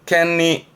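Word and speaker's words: 権利: 발음은 켄리.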